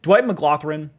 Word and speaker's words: McGlothern: Dwight McGlothern, yeah, that's how you pronounce his name, is run again, similar to, who was I talking about?